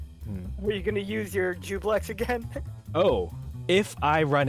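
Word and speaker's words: Juiblex: Jublex, because I keep forgetting that I am pronouncing it It's incorrectly. Jublex. Oh, Jublex, Yeah, not it Jubilex. is- I was saying Jubilex earlier. I think it is Jubilex. Oh, No, it is Jublex.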